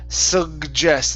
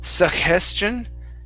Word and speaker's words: suggestion: let's try that one so it's sugest instead of suggestion okay sugest suggestion suggestion try that suggestion okay Su so it's a j sound like job Su suggestion okay suggestion